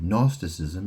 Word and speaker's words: Gnosticism: Gnosticism. How do you say that? How do you spell that? That's spelled G N O S. The G is silent, right?